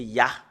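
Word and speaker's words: יה: Le fait de le prononcer, c'est Ya.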